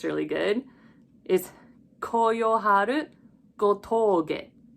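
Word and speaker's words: 吾峠: And for this spelling, it's a little interesting because when we use the English alphabet, when we write it down, we usually put a U to emphasize that the O is a long sound. In Japanese, we usually put a line over the O to symbolize that you elongate that sound.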